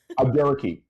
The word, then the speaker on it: Abdurraqib: I'm sorry, I can't pronounce his last name. Abdur Rakib. Abdurraqib, thank you, and Samantha Urbias in the first season.